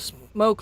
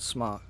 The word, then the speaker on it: SMOK: You know, I'm really fucking surprised at all the smoke lovers. Smoke. It is pronounced smoke. I figured this out. It's not smock. Smock kind of sounds stupid when you think about it.